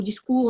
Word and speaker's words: discours: Dans le mot discours, on ne prononce pas le S à la fin.